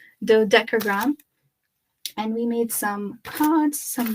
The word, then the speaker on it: Dodecagram: Dodecagram.